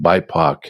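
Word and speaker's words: BIPOC: know obviously black indigenous people of color it's pronounced by poc it's like no it's not spock's brother but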